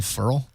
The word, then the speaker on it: Ferrell: Call him Ferrell. That's how his last name's actually pronounced.